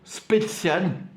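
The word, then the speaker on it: Spertsyan: Edouard Spetsian. Edouard Spetsian. Alors ça s'écrit Spersyan.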